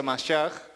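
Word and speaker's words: מָשִׁיחַ: Mesías es una palabra en hebreo que se pronuncia Mashiach y significa también literalmente ungido.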